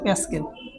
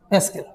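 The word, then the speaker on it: pascal: এটাকে আমরা পিএ দ্বারা লিখতে পারি, এর উচ্চারণ হচ্ছে প্যাসকেল। প্যাসকেল।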